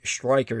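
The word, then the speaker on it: Streicher: man who executed stri Striker is actually the correct German pronunciation for his name Striker uh and uh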